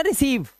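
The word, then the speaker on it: receive: मैं आपको यही बता देता हूं, देखिए रा ई सी लगा हुआ है तो ये हो गया रिसी, रिस तक तो पहुंच गए, रिस। अब यहां पर ई और आई का उच्चारण क्या निकालना है, ई तो सा पे भी बड़ी की मात्रा, और वी के लिए आप लगाओगे वा, और लास्ट वाले ई को पढ़ते नहीं तो हो गया ना रिसीव।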